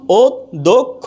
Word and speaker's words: অদক্ষ: যখন থাকবে তখন এই খিও যখন শব্দের মাঝখানে থাকবে শব্দের কোথায় থাকবে মাঝখানে থাকবে তখন এটার উচ্চারণ হবে ক আর খ উচ্চারণ হবে কি ক আর খ যেমন অদক্ষ এখানে ক আর খ উচ্চারিত হয়েছে কিন্তু খিও যদি শব্দের